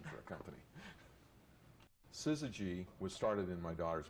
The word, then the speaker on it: Syzygy: techies and engineers and the fact that nobody could pronounce it or spell it didn't seem to bother us and uh people called us suzuji and suzuji and we thought that